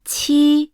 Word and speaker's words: 七: While. 七。 Brings out a strong airflow.